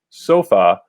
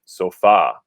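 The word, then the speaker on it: sofá: would be pronounced like sofa like the english word but in spanish we stress the last syllable so that's why we need an accent there because we are breaking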